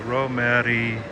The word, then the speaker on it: Romerijo: The Romerio, like, how do you pronounce it? Romerijo.